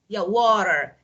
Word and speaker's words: water: For example, water. The first, water. So as you can hear, I'm pronouncing the first syllable, and syllable is part of word. Water, 2 syllables.